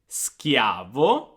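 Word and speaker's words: schiavo: the first word is skiavo skiavo all right so remember when you have the h the h makes the sound hard now let's go back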